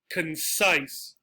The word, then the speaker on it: concise: Another exception, concise, concise. So while we have pretty, pretty, this is inclined, concise.